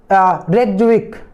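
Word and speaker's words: Reykjavík: Iceland रेकविक या रेकविक बोलते हैं, जो साइलेंट हो जाता है, तो रेकविक ये आपका क्या है, कैपिटल किसका है, आइसलैंड का।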